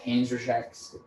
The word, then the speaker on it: Panzerschrecks: They're called I knew for a fact they were called Panzerschrecks in Germany.